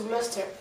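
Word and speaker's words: Gloucester: à glouer alors glester mais en en Angleterre ça se prononce Gloster ça prononce pas le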